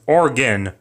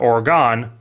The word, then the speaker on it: Oregon: with an I, not Oregon, like how you spell it with an O, because spelling things right is dumb. It's organ, like an old piano with pipes or your inner parts.